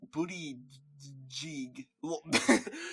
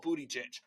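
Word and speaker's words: Buttigieg: who is uh Pete booty jig like literally what they said he's Pete booty buty it's called booty jit that's what it's called you can't say his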